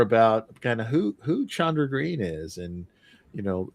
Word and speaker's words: Chandra: But um it it's since there are two A's then that long a sound on chandra is how it's pronounced.